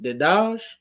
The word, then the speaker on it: Dedaj: Now, your last name is it Dedaj? Yes, it is. Perfect. Hey, I think I'm 2 for 2 today on pronunciations of people names, so I think I'm doing pretty good.